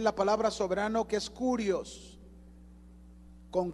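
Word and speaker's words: κύριος: Si se fijan, dice a nuestro Señor Jesucristo también la palabra soberano, que es Kurios, con K, Kurios. Algunos le pronuncian como Kyrios, ¿verdad? Pero se deletrea Kurios, con K, Kurios, ¿ya?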